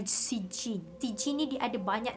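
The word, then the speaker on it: Siccîn: Kalau baca tu Sitchin tapi sebenarnya cara dia punya kita pronounce adalah Sitchin.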